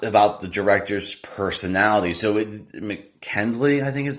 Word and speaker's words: Mackenzie: So Mackenzie, I think is how you say his name. Let me look real fast. Yeah, Mackenzie, who's the director.